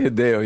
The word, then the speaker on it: Hideo: He gets mad because I mispronounced his name. Oh, you didn't say Hideo.